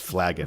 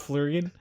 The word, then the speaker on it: flagon: It's pronounced Flagon. Flagon. Are you sure it's not Flurgan?